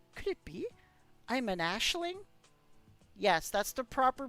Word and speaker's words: Aisling: I'm an Ashling? Yes, that's the proper pronunciation, everybody. It's not Aisling, how I always say it. It's actually Ashling.